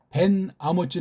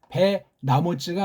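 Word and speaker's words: בן אמוץ: 근데 벤하고 요거하고 벤모찌 해야지. 배나무찌가 아니에요. 벤모찌. 배나무찌하면이 알레프를 상실시켜요.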